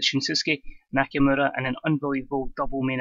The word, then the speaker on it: Shinsuke Nakamura: However else MD pronounces it, I pronounce it Shinsuke Nakamura in an unbelievable double main event.